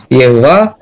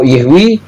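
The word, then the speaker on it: YHWH: Bolehlah saya katakan Yudhevave, karena mempunyai dua pelafalan. Mau Yehwa, mau Yehwi, itu dua-duanya dibenarkan.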